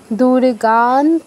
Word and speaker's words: দুর্গাং: শশিধার দুর্গান ত্রিনেত্রাম ভজে দুর্গাং দুর্গান এখানে অনুসারের জায়গায় নয় হসন্ত হবে কারণ পরে ত আছে তফলা আছে কিন্তু প্রথমে তো ত আছে তাই তটাকে ধরে আমাদের অনুসারের উচ্চারণটা হবে কি হবে দুর্গান ত্রিনেত্রাম ভজে ওকে এবার